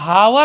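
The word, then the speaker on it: hour: लगा दिए की अंग्रेजी ऐसे अवर ने लिखा अवर है लेकिन अवर पढ़ेंगे बड़ा आएगा साइलेंट है तो एन लगा देंगे और ऐसे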